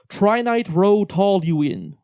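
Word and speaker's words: trinitrotoluene: It's pronounced trinitro-toluene.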